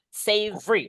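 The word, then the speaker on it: savory: Say boleh baca sa boleh atau lebih bagus teman-teman bacanya savery langsung diringkas gitu.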